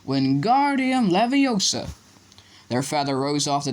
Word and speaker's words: Wingardium Leviosa: Wingardium Leviosa, he shouted waving his long arms like a windmill. You're saying it wrong. I heard Hermione snap. It's Wingardium Leviosa. It's a gar, nice and long.